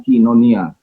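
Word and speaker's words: κοινωνία: Itu kalau dalam bahasanya koinonia, bacanya kinonia, ya. Oi dibaca dalam ini. Saya sedang berbicara soal pronunciation ya, modern Greek, ya, bukan ancient Greek, tapi saya sedang berbicara soal modern Greek.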